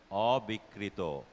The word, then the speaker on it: অবিকৃত: যাচ্ছি উচ্চারণ সূত্রের পরীক্ষায় অবিকৃত উচ্চারণটি ভুল হয়ে গেল দুটি ক উচ্চারণ করা যাবে না অবিকৃত লোভ্যাংশ লোভ্যাংশ উত্তর সঠিক